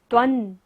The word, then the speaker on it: त्वं: त्वन, बिंदी के बाद क्या है? स, तो बिंदी का उच्चारण क्या होगा? न।